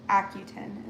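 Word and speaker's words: Akutan: Acutin is actually how you say it.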